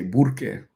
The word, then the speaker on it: Burque: In Albuquerque, they don't say Albuquerque, they say Burque. Burque, Burque, Burque. That's like their short name, Burque.